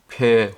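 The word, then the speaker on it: פ: 알파벳 17 번째 순서인 폐 혹은 페이에 대해서 공부해 보도록 하겠습니다 앞에 보이는 글자가 폐 혹은 페이로 발음하는데 숫자 값은 80이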